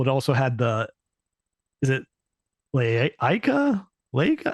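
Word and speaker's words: Laika: It also had is it Leica? Leica? How do you pronounce that, Wombat? You probably know this. The Studio Leica? Leica? Yes. Mm-hmm. You pronounce it Liquor, I believe.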